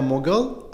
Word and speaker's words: Mughal: Today's podcast is with Mughal. Have I pronounced it right? Yes, that's Mughal.